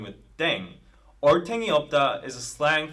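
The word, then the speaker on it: 땡: do your thing on the air thing RM is now playing with language now the pronunciation of Deng is similar to Thang which is the slang of thing in English last but not least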